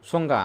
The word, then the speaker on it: সংজ্ঞা: নিয়ে ছন্দবিন্দু দিতে হবে সংজ্ঞা আমরা জানি দন্তাসটা তালিবস্র হয়ে যাবে অনুস্বরটা কি হয়ে যাবে উম হয়ে যাবে আর জীয়টা কোথায় আছে শেষে আছে এজন্য দুইটো হবে সংজ্ঞা।